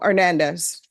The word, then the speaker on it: Hernandez: custody Daniel Hernandez Daniel Hernandez Deputy L he's not here and I didn't even pronounce the h and I think I put the accent in the right parts Matthew Castillo Matthew Castillo